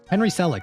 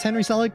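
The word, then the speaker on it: Henry Selick: I amdb real quick Henry celic that's what it was I thought it was Henry selic but I didn't want to say it wrong so uh yes as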